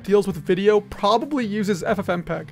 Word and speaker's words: FFmpeg: there's a problem i haven't mentioned yet it's pronounced ffmpeg ffmpeg is the reason watching youtube videos is